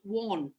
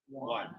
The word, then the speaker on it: won: Win, won. Not won. One. It's one, like the number one.